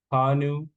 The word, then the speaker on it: Bhanu: last name how do you say it correctly hanu okay I just wanted to make sure I